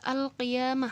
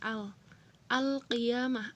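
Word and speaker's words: القيامة: dibaca jelas dzohir ya atau ini udah juga al-qiyamah hai alfi ama oh iya mah kalau dituliskan dalam bahasa indonesia atau bahasa eh latin atau tulisan latin tulisan huruf abjad ini seperti ini al al qiyamah alif lam nya dibaca jelas kedua huruf alni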